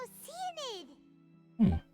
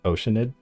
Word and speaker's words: Oceanid: Like instead of like Oceanid, she says Oceanid. Like she pronounces the A in ocean.